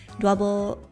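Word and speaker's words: Dwebble: But, I think I found a a good double Thank you to the lovely viewer who helped me that dwble rhymes with pebble.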